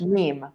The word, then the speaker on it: meme: pronunciation of meme is pronunciation rhymes with beam seem what else does it rhyme with meme team cream dream very good so you can all see how we say in English meme okay it rhymes with